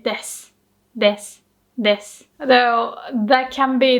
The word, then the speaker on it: です: It's the same with です. You don't say です. You say です.